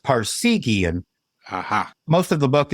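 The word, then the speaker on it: Parseghian: in December of 2023 now forgive my pronunciation I think it's paran's Wildcats devoted to northwestern's football coach aop passan and the on in 62 season yes it's a pronounced Parian aha most of the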